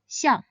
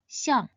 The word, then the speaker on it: xiàng: It should be pronounced in the fourth tone, xiang, xiang.